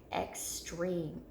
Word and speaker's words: extreme: Extreme, extreme. We hear that long E after our chin hits our hand, so it's in the second syllable, okay? Extreme, our second syllable is where that E is accented.